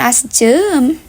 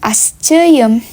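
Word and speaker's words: aşçıyım: Perlukah kita menambahkan Y? Perlu, karena nanti tetap bunyi akan asjem. Jadi lebih bagus, lebih enak didengar kalau ditambahkan Y. Maka bacanya akan asceyem. Gitu teman-teman.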